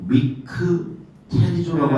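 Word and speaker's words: μυκτηρίζω: 헬라어로 미크테리조라고 하는 단어예요. 미크테리조. 따라해볼까요? 미크테리조. 좋았어.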